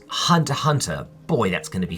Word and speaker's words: Hunter x Hunter: The X is silent. All right. And Hunter Hunter.